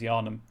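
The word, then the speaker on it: Yharnam: I know it's Hjarnum. I know you don't really pronounce the H.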